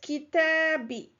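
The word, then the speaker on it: كتابي: attached to this noun, it changed the dhamma to a kasra. So it is kitabi. So this was done for ease of pronunciation because it is hard to pronounce when there is a dhamma and then after it there is a kasra. So this was a pronunciation change. It is pronounced kitabi.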